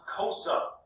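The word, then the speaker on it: Xhosa: the cosa all right this is pronounced cosa and they lost grazing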